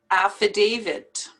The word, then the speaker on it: affidavit: d at the end but it's a t and you have to pronounce the t affidavit buffet it's just as